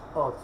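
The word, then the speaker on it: עֹז: Pero aquí la ayin, algo particular de esta letra es que es muda al momento de la pronunciación. Y vemos que en la palabra aquí la ayin tiene un puntico, que hemos aprendido que ese puntico al momento de la pronunciación se pronuncia como una O. Entonces aquí junto con el sonido de la sayin, que es la Z, entonces la pronunciación es Oz.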